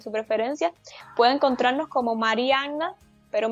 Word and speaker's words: Mariannah: preferencia, puede encontrarnos como Marianna, pero mi nombre se escribe con 2N y H al final.